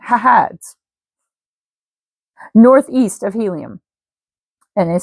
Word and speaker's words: haad: And it's spelled h a ds. That's why I'm pronouncing it hahads northeast of helium.